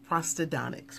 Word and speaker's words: Prosthodontics: This week is National Prosthodontics Week.